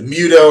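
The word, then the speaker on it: MUTO: fits that as well the mudo or mudo I guess I should call them that's how they pronounce it in the movie but I've been calling them mudo since like it was announced that they exist existed so it's going to be hard to break that habit but I don't think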